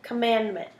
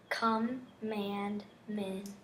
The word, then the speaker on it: commandment: Okay, commandment. Commandment. Good job. Oh, wait. Was it not? Yep. So the syllables in that word are come, mand, mint. So you made T an extra syllable.